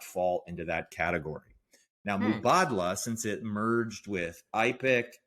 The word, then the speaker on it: Mubadala: Until you like hear somebody real say it, everybody wants to say Mubadala. Yeah, exactly. I feel like such an insider being like, it's actually Mubadala.